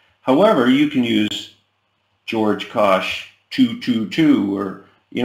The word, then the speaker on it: Kosch: I would go with I always go with George Kosh my name is spelled kose I take nobody is